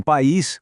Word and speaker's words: país: Em país com acento agudo no i, o a e o i são fortes. Eles brigam. Então cada um vai paraa sua própria sílaba, formando um iato.